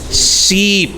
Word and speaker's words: sheep: Sally is a silly ship.